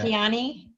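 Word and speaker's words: Lakhiani: I can't pronounce his second name. You Nishan might know that. Lakiani.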